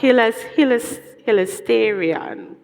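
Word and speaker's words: ἱλαστήριον: Right, so it's pronounced hilasterion.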